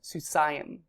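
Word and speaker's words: סוּסַיִם: So it's ayim is how you pronounce that, susayim, and that would be two horses.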